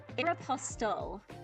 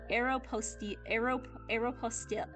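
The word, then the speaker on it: Aéropostale: Aeropostal. Yeah, like apostle. Aeropostal.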